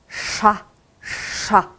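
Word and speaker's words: ш: 얘는요, 샤라고 읽어주시면 됩니다. 샤, 샤. SH 발음 생각하시면 돼요. 샤, 이런 발음이 나게 되겠죠?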